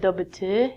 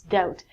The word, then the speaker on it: doubt: next one is doubt it looks like double - it's not double - its doubt when you doubt something